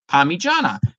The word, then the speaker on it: parmigiana: I said, spell it out for me. P-A-R-M-I. Oh, no, yeah. But it just is. I'm like, no, you just spelled it out and pronounce it Parmigiana.